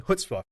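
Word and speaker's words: chutzpah: said it right yeah there's a little bite to it at the beginning reminds the build of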